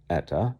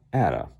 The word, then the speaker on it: Atta: 22, Russ Van Atta, not Etta, Atta, New Jersey, collegiate, semi-pro, Helen Elizabeth Depew.